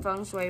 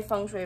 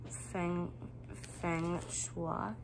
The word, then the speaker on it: feng shui: So yeah, my feng shui bracelet. For the longest time, I used to pronounce them feng shua or feng shui.